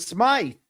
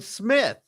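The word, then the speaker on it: Smyth: And when I got there, I pronounced them wife and smite, but they pronounced them with and smith.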